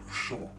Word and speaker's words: Sean: The correct pronunciation of my name is Sean. From the back of the throat. Say it like you're still in the old country.